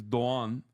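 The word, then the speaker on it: Doğan: No, it's my grandfather's name is Doan, but is spelled with a letter that doesn't exist in the English alphabet. Is a yumuşak G, which is a G with like a thing on it, and you read it as like and you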